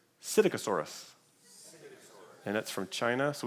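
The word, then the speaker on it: Psittacosaurus: it starts with the letter p but it's pronounced cydicasaurus and that's from china so we found it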